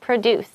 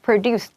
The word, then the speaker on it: produce: This is the verb, right? So if it was the noun, it would be produce. But here we want produce.